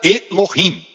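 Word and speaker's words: אֱלֹהִים: O nome Deus no hebraico de Gênesis 1:1, Deus se pronuncia Elohim.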